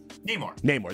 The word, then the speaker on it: Namor: Namor.